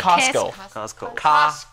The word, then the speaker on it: Costco: 学法文哦，很法式，还有刚刚那个个 Costco 还是 Casco 还是？怎么念？Costco。